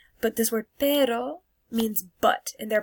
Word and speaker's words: pero: But this word perro means but, and they're pronounced differently. This one you roll your R, perro, and this is perro.